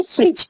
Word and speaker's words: fridge: फ्रिज क्या है जी से पहले आ रहा है यहाँ पे डी, तो क्या है डी को प्रोनाउंस नहीं किया जा रहा है, फ्रिज डायरेक्टली पढ़ा जा रहा है। ओके, FRI, और इसकी स्पेलिंग क्या है FRIDGE, लेकिन पढ़ा क्या जाता है फ्रिज।